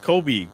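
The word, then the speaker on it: Cobe: C O B E, but it's pronounced Kobe just like Kobe Bryant.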